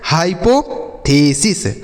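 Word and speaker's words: hypothesis: हाइपोथेसिस क्या लिखा गया हाइपोथेसिस एच Y high P ओ से पो टी एच ई से पढ़ेंगे थे एस आई एस से पढ़ेंगे सीस तो लिखा गया बच्चों हाइपोथेसिस ठीक ठीक है?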